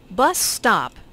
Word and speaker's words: bus stop: Bus stop is a compound noun with the main stress on the first word.